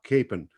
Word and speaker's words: Kapaun: And that priest, his name is Father Emil Kapaun, or as they pronounce it in Wichita, Kapaun.